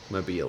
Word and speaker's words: Mobile: is it pronounced mobile or how do you pronounce it oh mobile mobile that's right um if it was around that